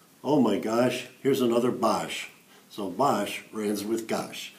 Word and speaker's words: Boesch: they would say oh my gosh here's another bosh so bosh runs with gosh guys boss rhymes with gosh can you tell us a little